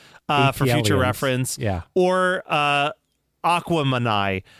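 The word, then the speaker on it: Aquemini: Or Aquamanai, pronounced to rhyme with Gemini because it's a mix of Big Boy being Aquarius and Andre being Gemini.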